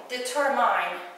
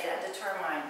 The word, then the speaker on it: determined: Hungarian so we try we have to say determind a lot of my students say editor mine because there is mine the end but the emphasis is here at determine so I was determined